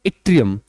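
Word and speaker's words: yttrium: यह Y silent है यहां पर। इसको बोला जाता है इट्रियम।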